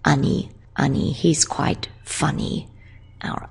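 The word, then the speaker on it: 兄: Whereas our own older brother, he gets just a kanji and he's pronounced ani.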